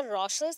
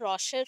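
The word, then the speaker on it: Rorschach: रॉसर्स ink blot test, that is अ रॉसर्स, actually spelling wrong है, रॉसक हो गया, रॉशर होगा।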